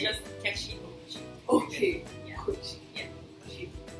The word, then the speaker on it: Kechi Okwuchi: Yes, please, your son is going to help me pronounce it so I don't cheat. It's just Kechi Okwuchi.